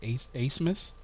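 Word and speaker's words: Abmas: Max, I think they pronounce it Asmus.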